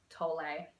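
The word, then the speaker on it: Tolle: getting out my echart toll book tole is how you pronounce it book and um just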